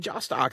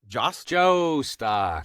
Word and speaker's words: Jostock: one, the only Josttock. How you doing? You said it wrong. You said my name wrong. Just josttock.